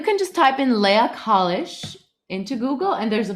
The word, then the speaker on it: Kalisch: same on facebook instagram my name so you pronounce it college now my understanding is you are related somehow